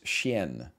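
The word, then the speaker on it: chien: actually it is i i do know how to say this and it's shen also known as dog in french three gold two stats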